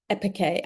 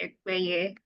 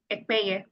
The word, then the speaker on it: Ekpeye: And it's actually Ekpeye. Ekpeye.